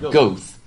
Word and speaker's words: Goethe: It's G-O-E-T-H-E. So it looks like Goethe, but it's pronounced Goethe. It's really, it's sort of like Goebbels was Hitler's propaganda man. It looks like Goebbels, but it's pronounced Goebbels. That O-E is like an er sound.